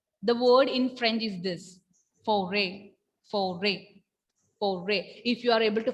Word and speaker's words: forêt: In French, foray. Pronunciation of this word is foray.